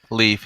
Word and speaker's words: Leif: Is it Leif or is it Leif? Leif in America.